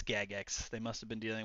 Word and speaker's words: Jagex: It's pronounced Jagex, not Jagex. Yeah, it's pronounced Jagex. That's exactly how it's pronounced. Thank you. Thank you for confirming it. It's Gagex.